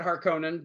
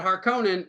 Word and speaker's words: Harkonnen: and baron harkonnen and i'm going to pronounce it harkonnen because if since 1984 when david lynch said harkonnen it's harkonnen even though in this they probably pronounced it correctly to what frank herbert had in mind um uh but i